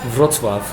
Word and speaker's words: Wrocław: She made it out to Israel from Poland, from how do you pronounce it? Wrocław.